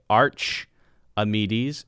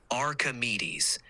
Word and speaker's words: Archimedes: difference when I say Arch amedes instead of arames yes I hear the difference now the correct pronunciation is with The Arc sound Archimedes emphasis on the second to last syllable me thanks for pointing